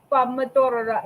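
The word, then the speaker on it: pomodoro: and tomatoes aren't Tomatoes tomatoes are pomodora it's what you eat P pomor Pomodori pomodora in the there we go right there that's the true pronunciation right there Mella shut up I hate you that's how you that's the way it's spelled that's the way it's supposed to sound that's another that's not for debate how come they don't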